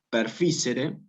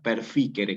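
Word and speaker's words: perficere: Nunca perfícere, nunca silciter, nunca paucis, sino pauquis, kirkiter, perfíquere. Cuando vean la C, imagínense que se pronuncia ya con una K.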